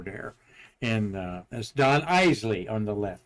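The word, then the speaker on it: Eisele: one of the Apollo secretaries saying that it's pronounced eely there is the pad fur Gunter vent and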